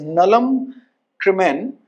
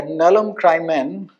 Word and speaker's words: nullum crimen: This is nullum crimen, या nullum crimen, nulla poena sine lege. The Latin pronunciation, you have to read it like Hindi only.